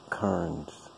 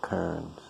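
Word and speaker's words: Carnes: is Lita Lisa Terence and that's spelled c-a-r -n-e-s so Kearns she's from like Great Britain or something and you'll notice her accent when she starts talking it's Lisa Kearns but it's it'll look like Karen's with a C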